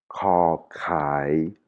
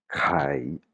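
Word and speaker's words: ไข่: ou alors le mot kai, c'est l'œuf. Hein, vous entendez la différence entre, par exemple, la poule, kai, et l'œuf, kai, kai. C'est pas la même prononciation.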